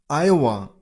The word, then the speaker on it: Iowa: Iowa. Iowa. Stress on the first syllable. I. Iowa.